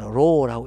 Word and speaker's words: rho: rho라고 읽게 되죠.